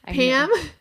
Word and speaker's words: Pame: Pam. Pam spelled her name P A M E. The E is silent.